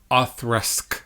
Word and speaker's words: Auchroisk: It sounds nothing like it looks, and it's a Flora and Fauna bottle. Authrusk.